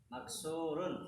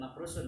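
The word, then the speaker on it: مكسور: Angi makus Maksu Maks maksurun maksurun ya jangan jangan dibalik makrusun ya maksurun oke kuda kuda hison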